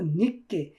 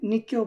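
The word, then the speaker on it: 늦게: মানে গতকালকে জুম একটু নিক্কে উচ্চারণটা হবে নিকে ঠিক আছে নিতকেও বলতে পারেন নিকেও বলতে পারেন ঠিক আছে এটা কোন সমস্যা না তো অজেম নিকে যাস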